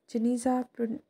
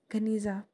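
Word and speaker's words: Geniza: In 1896, a huge collection of medieval Jewish documents was discovered in a sealed room, Janiza, pronounced Ganiza, of the Ben Ezra synagogue in Fustat.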